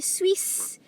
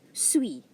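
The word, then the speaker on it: suis: if you notice sui the s is silent you don't say swiss you say sui okay now it means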